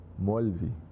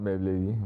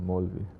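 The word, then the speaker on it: Maulvi: How do you say? Molvi. Not Mawlavi, Molvi.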